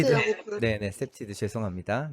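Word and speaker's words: CPTED: 발음이 어떻게 되죠? 네. 셉티드랑 네, 셉티드. 셉테드라고 부르. 네네, 셉티드.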